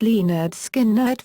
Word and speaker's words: Lynyrd Skynyrd: the self-titled album with the subtitle pronounced Lee nerd skin nerd featured the hit song